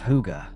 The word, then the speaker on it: hygge: The Danish concept of hygge, pronounced hygge, is essential to Scandinavian barn interiors.